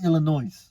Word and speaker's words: Illinois: Do you say Illinois or do you say Illinois? I say it's Illinois because the S is silent.